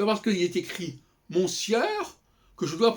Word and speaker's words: monsieur: J'écris ça monsieur et je dis monsieur. Pourquoi? Ça ne choque personne. Et pourtant, ce n'est pas du tout évident.